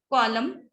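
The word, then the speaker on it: column: जब final spelling sequence M एंड न आते हैं और स्पेशली लास्ट में न आता है तो वो साइलेंट होता है. ठीक है. जैसे कॉलम, कंडेम एंड सोलम.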